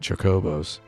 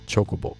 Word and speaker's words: Chocobo: tandem with one another he pronounced it Chuck oboes in Japanese it would just be chocobo so that's how I pronounce it I got yelled at